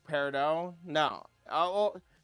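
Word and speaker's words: peridot: It can be paradot. It can be whatever. Steven Universe can suck my nuts because they all say paradot. Paradot. Paradot. But you know, most people in the gem industry say parado.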